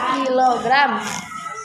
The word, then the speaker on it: kilogram: Bukan kg, ini bacanya kilogram.